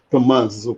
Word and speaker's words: Tommaso: Tommaso. Caprichando aqui na pronúncia. Tommaso, porque tem dois M, tem que dar essa.